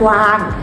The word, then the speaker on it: กวาง: ใช่ ค่ะ คือ ภาพ กว้าง ก ว อา ง กวาง ไม่ อ่าน ว่า กาง แล้ว ก็ ไม่ อ่าน ว่า วาง กัน นะ คะ เด็ก